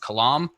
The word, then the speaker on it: Kalam: I believe I believe it's pronounced kalam, cosmological argument is good evidence for God.